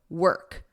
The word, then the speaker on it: work: Like you're saying the past simple of the verb to be, were, and then you just add a K on it. Were, work, work.